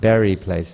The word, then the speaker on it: Bury Place: place and of course the term Berry you pronounce it Berry Place bury Place bury place where they used to bury people many towns in England have the word bury burial ground so uh prad came there